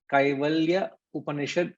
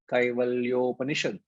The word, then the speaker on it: Kaivalyopanishad: So whenever the two Sanskrit words a and u merge, it becomes an o. So Kaivalya Upanishad can also be pronounced as Kaivalyopanishad.